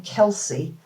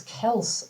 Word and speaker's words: Kelce: uh his name is Travis Kelce and everybody pronounces his name Kelsey and I know for a fact cuz I've heard him say it, it's Kelce, not Kelsey.